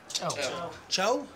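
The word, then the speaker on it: ጨው: do you say salt Cho so I like my coffee with Cho not not child not ciao but the Chow is look a little bit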